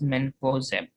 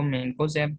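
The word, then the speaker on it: mancozeb: तो इस ग्रुप में हमारे पास जो मोस्ट इम्पोर्टेंट जो फंजीसाइड है इट्स मेनकोजेब, या इसको मेनकोजेब, मेनकोजेब दोनों तरह से जो है वो प्रोनाउंसिएट किया जा सकता है।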